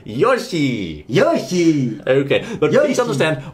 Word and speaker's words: Yoshi: saying Yoshi yes I've heard some people say Yoshi it's Yoshi what's that it's not Yoshi it's Yoshi look if we hear